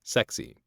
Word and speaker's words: CEXC: a combined explosive exploitation cell or cexc pronounced sexy dubbed the csi of